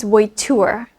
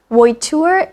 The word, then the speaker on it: voiture: Voiture sounds and looks when it's spelled out a bit like vulture, so I took vulture for voiture.